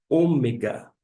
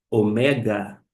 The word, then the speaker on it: ômega: assim que se chama, não é ômega em termo de pronúncia, e sim. Você aprende isso tanto no grego moderno quanto no grego clássico. Por mais que comumente se ouve ômega, seria uma espécie de aportuguesamento da palavra de é a última eh palavra que nós temos no alfabeto grego, mas a pronúncia de fato é omega.